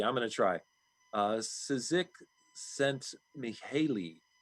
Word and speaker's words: Csikszentmihalyi: I think I'm going to do brain damage just trying to pronounce it. Mihaly, we'll say it starts with a C. I'm going to try. Csikszentmihalyi sent Mihaly, called flow.